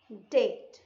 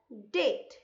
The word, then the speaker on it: Dete: Mother and her aunt डेट. इसे आप डेटे नहीं पढ़ेंगे. You will not pronounce it एज DETES, डेटे. It's wrong. DETE is pronounced as date. The last E is silent, right?